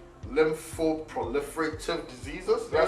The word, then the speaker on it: lymphoproliferative: So there's this term that I've always found a problem saying, lymphoproliferative diseases.